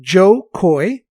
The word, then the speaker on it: Jo Koy: cultural cachet with uh we should spell his name his name is spelled j-o-k-o-y that's right joe coy yeah and he's got